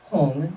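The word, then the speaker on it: HUM: In the center is his seed syllable, Hung, H-U-M or H-U-N-G.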